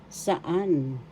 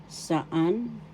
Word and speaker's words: saan: kailan when in English saan saan first syllable sa second syllable an the second syllable has the accent saan saan saan in English